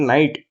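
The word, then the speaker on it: night: हम लोग एनालॉजी लगा रहे हैं कि नाइट में भी आई जी एच साइलेंट होता है।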